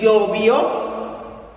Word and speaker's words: llovió: Ayer llovió, I forgot the V. Llovió, accent on the O, llovió mucho, okay?